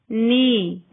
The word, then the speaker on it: knee: K is not pronounced when it comes before N at the beginning of a word. Knife, knee.